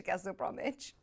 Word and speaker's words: Castle Bromwich: Lovely garden centre there, though, if you do fancy a trip to Castle Bromwich.